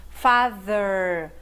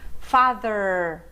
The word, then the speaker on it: father: pai, mother é mãe, cuidado com a pronúncia, father, mother, você tem que colocar a língua entre os dentes e assoprar, mas esse TH aqui é voiced. As cordas vocais vibram se você estiver pronunciando da forma certa.